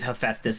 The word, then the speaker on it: Hephaestus: have phytos uh hephaestus i say in greek mythology it's hephaestus it's spelled a little